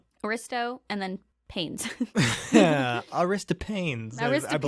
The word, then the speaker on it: Aristophanes: from the greek story in plato's symposium where aristophanes wrist pains do you know how's that how do you spell it aristotle and then pains yeah aristo pains aristophanes says that all humans were androgynous in the